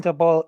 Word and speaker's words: Daboll: Yeah, Dabble, Brian Dable, Dabble, DeBall, whatever. I don't know how to pronounce it, but I will learn That's it. It becomes yeah, head that's coach. Yeah, it's Brian Daboll.